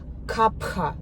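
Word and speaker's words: कफ: Kapha is H.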